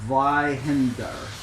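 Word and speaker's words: Zweihander: best to do it it's a German word so it's a little bit difficult it's called Zender Zender so um sorry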